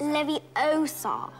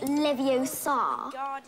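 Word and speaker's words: Leviosa: I can totally relate you're saying it wrong it's Levi Oar not Lev o s you do it then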